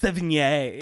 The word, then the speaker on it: Sevigny: So watch like 80 people just be like, it's Sevigny. Chloe Sevigny. You guys are correct. Everyone else is wrong.